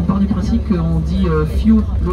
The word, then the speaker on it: fjord: Mais on part du principe qu'on dit fjord, le O on va le prononcer plutôt comme un OU.